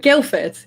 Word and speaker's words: Guildford: you always say guilford is that guildford yeah guildford if you want to pronounce it with the proper queen's english but no one does okay because i always